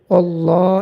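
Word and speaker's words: الله: এটা আমরা যখন রিডিং পড়বো তখন আল্লাহ শব্দটা পুর করে পড়তে হবে। যেমন ওল্লাহ ওল্লাহ হা পেশ হু ওল্লাহু আল্লাহ এখানে এটা হচ্ছে আল্লাহ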